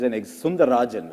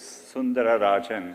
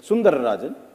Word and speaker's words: Sundararajan: read about you, it said Sunder Pichai is Sundarajan, right? To give you the whole name. It actually was Sundararajan. No one could pronounce it, yeah. No, we can. There's Sundararajan.